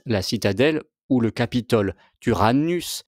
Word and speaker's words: Tyrannus: Tyrannus, Y se prononce normalement U, vient du grec, c'est le tyran.